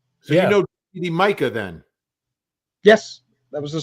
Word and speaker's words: Micah: Micah, pronounced Micah. Look at that. I might have been saying Mika, but it's Micah.